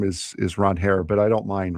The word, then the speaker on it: Ranger: That's how he pron That's how you pronounce his name. Ron Hair.